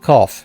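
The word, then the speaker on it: Corfe: Oh, Cough. They called it Cough. It sounds like cough.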